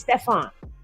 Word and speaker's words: Stefan: Okay, Stefan Mark. That's how you say it. It's not Stephen, it's Stefan.